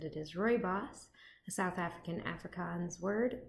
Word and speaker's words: rooibos: vlog where I asked you guys how to pronounce that word and said it is Rory boss a South African Afrikaans word meaning red bush